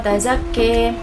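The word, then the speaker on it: تَزَكَّىٰ: Selanjutnya pada zakka, di situ terdapat imalah sehingga cara membacanya menjadi qad aflaha ma tazakki.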